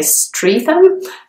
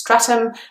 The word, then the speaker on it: Streatham: in the middle which might suggest that it's pronounced like the EA in a meaner so Streatham but actually it's Stratham the th letter combination is not pronounced like